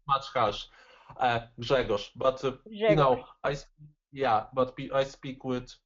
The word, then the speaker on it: Grzegorz: The correct pronunciation is Grzegorz. Okay, so what's interesting about that is there are sounds in your name that I don't have in my sound repertoire because they're unique to your language.